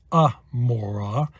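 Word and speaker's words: עמורה: of Gomorrah Sodom and Gomorrah well that is pronounced Amora and it begins with an iron so that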